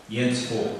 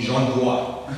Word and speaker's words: Jens Voigt: Jens Voigt, that's how I get called in Germany. Apparently it's really difficult for French or English-speaking people. So the I is just there, but it's not pronounced. And apparently it's really challenging, so I heard a word. Like the French people, Jens Voigt, they call me Jean-Bois.